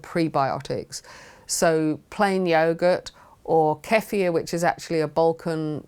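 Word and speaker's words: kefir: So plain yogurt or keier, which is actually a Balkan drink that has many times more good flora and fauna than uh plain yogurt.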